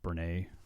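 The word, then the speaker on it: Brené: the cleaner at the hospital, maybe it was Brene. That's how you say her name? Brene, yeah.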